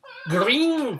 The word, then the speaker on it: Greene: one green day but green day with an e it's a silent e which is excellent